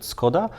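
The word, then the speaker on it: Škoda: like a book or a briefing book from skoda or how we the rest of Europe pronounce it skoda um and um it was like 150 pages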